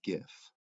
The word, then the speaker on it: GIF: making a decision everybody it's a hard g i use gif well clearly you are